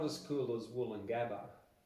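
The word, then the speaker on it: Woolloongabba: it's it's but it's not as cool as wool and Gaba like it's the most misspelled word in Australia it's spelled w double o double l double o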